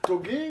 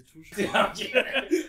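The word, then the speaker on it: touge: Togué, je vais pas vous mytho, j'ai appris la réelle prononciation sur la vidéo qui est sortie du HEM, est sortie la semaine dernière.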